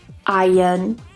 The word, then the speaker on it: iron: a different way anyway in RP or modern RP in isolation it's pronounced as iron you can't make fun